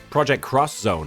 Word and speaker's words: Project X Zone: Are you not supposed to pronounce the X in Project X Zone? Project Cross Zone. I guess that would make sense since it's a crossover.